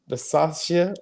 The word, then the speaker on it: Bisaccia: Bisaccia.